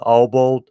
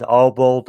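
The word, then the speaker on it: Obould: of the orcs uh obald uh again i can't pronounce uh these characters names oh bold it's o b o u l d his name is obald uh many arrows that's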